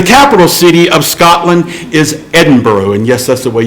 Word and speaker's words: Edinburgh: today and the capital city of Scotland is Edinboro and yes that's the way you pronounce it it's not Edinburgh it's Edinburgh and